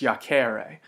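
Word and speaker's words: iacēre: difference here is that in the infinitive to lie down has a long e so it's yak ara to throw is a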